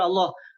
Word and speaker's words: Allah: Tapi banyak yang panggil Allah. Oke. Allah itu apa? Allah itu apa? Allah, Pak. Dalam bahasanya Tuhan tulisan A itu bacanya ditebalkan Allah. Allah ditebalkan, tapi Allah, bukan Allah.